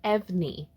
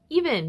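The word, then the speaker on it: EVNNE: Thank God I learned how to pronounce this group's name before I recorded, because I would have looked like a fool saying EVNEE. Even, new boy group, kind of bangs.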